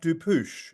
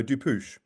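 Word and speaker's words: Dupuche: good thank you m my name is pronounced dupous it's a French name some people are asking so dupouch now I think in response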